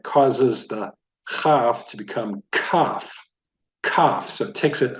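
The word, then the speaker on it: כף: this is the letter cough try saying that cough not cough cough so cough you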